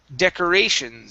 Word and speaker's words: decorations: the last one here decorations so our stress is right here okay on the a okay and make sure to pronounce the s at the end decorations decorations all right very